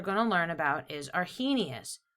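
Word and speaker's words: Arrhenius: to learn about is our he Gnaeus our he Gnaeus you say it like he was a genius a genius came up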